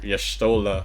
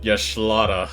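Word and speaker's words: Y'shtola: I mean, pretty much every WoW streamer that has moved to FF14 is simping for Yashtola, or as Asmod Very important. intentionally pronounces it, Yashlada.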